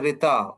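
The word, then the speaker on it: ṛta: RTA which is pronounced as a retita which means the natural order of the universe.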